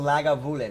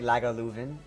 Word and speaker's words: Lagavulin: So Lagavulin. I do pronounce Lagavulin wrong. I say Lagavulin, and it's Lagavulin.